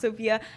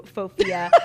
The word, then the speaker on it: Sofia: It's Sofia with an F. It's pronounced Sofia.